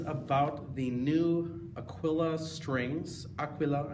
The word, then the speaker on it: Aquila: the new Aquila strings aqua low I think is how they say it in Italy that are specially made for